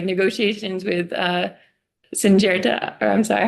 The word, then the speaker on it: Syngenta: I also didn't want to forget to respond to your comment too about like negotiations with Syngenta, or I'm sorry, how do you say that? Syngenta, yes.